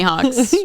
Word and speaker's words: Houck: Yeah, it's like it's spelled Houck. Oh, interesting. So kind of reminds me more of like hawkaloogie and not like a hawk in the sky.